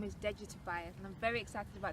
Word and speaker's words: Tobais: So if you pronounce the A properly, Yeah. it's Tobais. Okay. So, Tobais. yeah, Tobais.